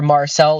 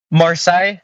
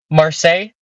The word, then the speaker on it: Marseille: bit closer to where Marcel is it looks like there's like an airport that's off some uh oh actually outside sorry oh hold on what's the pronunciation must say marsai okay sorry Marseille you never heard of